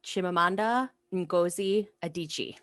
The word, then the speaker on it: Chimamanda Ngozi Adichie: Americanah by Chimamanda Ngozi Adichie.